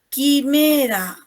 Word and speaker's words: quimera: Quimera, ¿no? Quimera. Yo no pronuncio ahí la U, no la pronuncio.